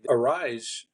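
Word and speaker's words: Arraez: go down the line arise is that that's how they pronounce it Luis arise AR arise arise arise is is a is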